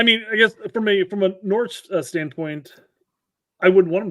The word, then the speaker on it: Norwich: So apparently, and this is not a surprise to Norwich fans.